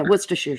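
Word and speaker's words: Worcestershire: War sest Shire oh it's just Worcester and Shear put together wer Shear yeah Worster Shear sauce oh sick yeah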